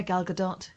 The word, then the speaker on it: Gal Gadot: So, Wonder Woman, Gal Gadot, is that how you say it? Yeah, Gal Gadot.